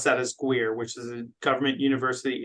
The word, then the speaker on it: GUIRR: I was going to say, if you Google GUIRR, which is, we pronounce that as GUIRR, which is a Government University Industry Research Roundtable.